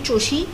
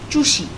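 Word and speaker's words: চুষি: it should have been choshi but it's not choshi it's chushi the the the vowel of the first syllable also changes so for chosha the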